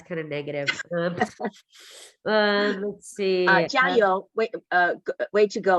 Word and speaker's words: 加油: 加油. Am I saying it right? Yeah, 加油, like fighting, keep on going.